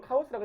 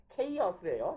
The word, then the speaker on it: chaos: 근데 물론 카오스라고 해도 아무도 못 알아듣는 건 똑같아요. 케이어스예요. 영어식 발음은. 케이어스라서 카오스라고 하면 못 알아듣습니다.